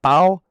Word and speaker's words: Bao: Bao? Yeah, Bow, yeah.